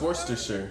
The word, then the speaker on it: Worcestershire: No, it's Worcestershire.